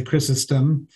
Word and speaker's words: Chrysostom: to say i mean most english-speaking people uh would say chrysostom because we tend to pronounce on the first syllable um but in in